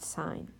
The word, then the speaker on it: sine: X and this is abbreviated just si n so that sign it's and still pronounced that way the sine of any